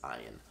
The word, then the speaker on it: Ian: the fact that the guys name is ayan and it's not it's not pronounced Ian it's ayan so that was funny